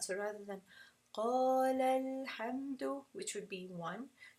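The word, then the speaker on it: قالا: So if we just pronounce this qala alhamdu, then you would never hear that it was actually meant to be two people. So in this case, you're going to pronounce it with nabr, and you're going to say qalal, qalal, qalal. You have to make an inflection of sound.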